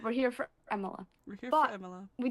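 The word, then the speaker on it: Emilia: You see why we can't pronounce it. It's Emila, guys. It's Emil, right? We're here for Emila.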